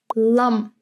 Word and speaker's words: lam: For example, if you have the word lam, you're not really pronouncing the M as clearly as, for example, in mooi.